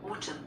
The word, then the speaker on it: autumn: 근데 N이 사일런스, 묵음이에요. 그러니까 가을이에요.